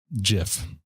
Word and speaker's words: GIF: pronounce the format is jif yes oh thank you like peanut butter yes ma'am it's [